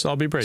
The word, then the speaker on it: Sowerby Bridge: The locals would have you pronounce it? Sowerby Bridge.